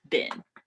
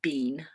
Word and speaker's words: been: the special past is been. Been, like a bin of clothes, or like that's how you pronounce it. Or people say bean sometimes, depending on their accent.